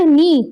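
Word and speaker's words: knee: फिर नेक्स्ट है इन the word नी which letter is silent not spoken. नी में कौन सा वर्ड है जो नहीं बोला जा रहा, जो साइलेंट है, के, तो ऑप्शन ए आ जाएगा।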